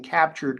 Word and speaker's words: CAPTUR3D: That's spelled CAPTUR3D. and that'll take you to the Captured website.